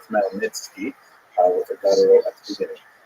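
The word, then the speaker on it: Khmelnytsky: It's actually pronounced Malnitzki with a gut at the beginning.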